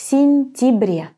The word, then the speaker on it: сентябре: And in the last word, в сентябре, we actually pronounce it as an и. В сентябре.